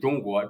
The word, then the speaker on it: 中: China you know the CH in Chinese in pronunciation is Jung Jung actually literally translated will be Central Kingdom